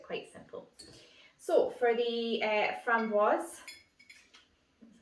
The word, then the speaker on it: framboise: So for the framboise, that's how you say it, I'm going to do just 15 ml of this.